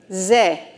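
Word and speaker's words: זה: with 3 dots, and a Hey, which is silent because there's no vowel point underneath. So that's just going to say Ze.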